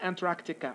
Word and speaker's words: Antarctica: it's going to be antarctica okay i'm going to pronounce it the way it has to be pronounced because some people are pronouncing it in a wrong way they do not pronounce the k okay which is a